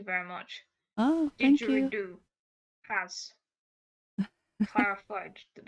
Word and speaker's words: didgeridoo: Didgeridoo has clarified that it is pronounced Didge-a-ree-do.